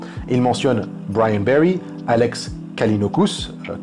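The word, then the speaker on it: Callinicos: À cause de ça, justement, il mentionne Brian Berry, Alex Kalinokus, alors Kalinicos, pronounced, c'est comme ça que c'est prononcé, je crois, je commence à parler en anglais, ça y est, je pars en couille.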